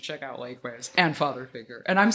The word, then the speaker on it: Father Figuer: Everyone should check out Lake Waves and Father Figure. And I'm saying Father Figure, right? Yeah, it's just straight old father figure.